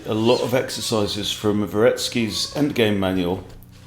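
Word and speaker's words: Dvoretsky: lot of exercises from varetsky's end game manual the D is silent you don't have to pronounce the d okay now if takes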